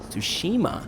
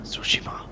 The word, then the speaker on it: Tsushima: Hello and welcome to Ghost of Tsushima. Tsushima. Pretty sure I pronounced that right.